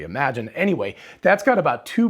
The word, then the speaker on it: Imagen: out is actually pronounced imagine i thought it was actually imogen because it's spelled i-m-a-g-e-n so i thought it was imogen but it's actually imagine anyway that's got about